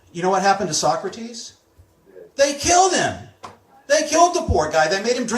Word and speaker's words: Socrates: us about this guy in ancient Greece named Socrates that's how you pronounce his name I'm not even going to